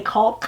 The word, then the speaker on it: caulk: things like that happen now when we want to write the word caulk or pronounce the word i make sure i say cult but i have to think really hard to include the l in there cold everybody just says